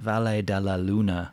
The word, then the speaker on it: Valle de la Luna: a lunar is that how you say it valle de la luna yes by de la luna let's let's have